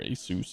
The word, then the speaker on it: Asus: My monitors are all Asus though, or Asus if you want to say it correctly.